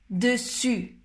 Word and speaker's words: dessus: Donc tu mets la bouche en position O, mais au lieu de prononcer le O, tu vas prononcer I. U, U, U, U. Dessus, dessus, dessus.